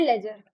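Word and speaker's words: ledger: इसमें आपका जो डी होता है ये साइलेंट होता है। तो इसीलिए हम इसको पढ़ते हैं लेजर।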